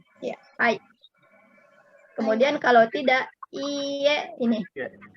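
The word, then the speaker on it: iie: Kemudian kalau tidak iye ini. I e ya. Tulisannya e dibacanya iye.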